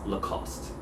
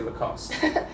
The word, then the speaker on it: Lacoste: country would just say lacoste your mom's not normal not at all but we all agree that the e on the end is silent yeah right the cost